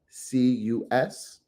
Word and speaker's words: Seleucus: So Ptolemy, Seleucus, that is Seleucus, Antigonus, that is Antigonus, and Cassander, that is excuse me, Nder.